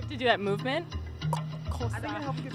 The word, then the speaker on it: Xosha: Xosha. You, like, go into African dance as you do it. Xosha. It helps get the click out.